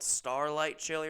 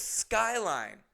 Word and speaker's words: Skyline Chili: course in the video I mispronounced everything and I called it Starlight Chile or something like that. And the amount of comments of people going, "It's Skyline, you prick.